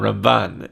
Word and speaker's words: Ramban: with Rambam, even though even the pronunciation is different. Rambam and Ramban.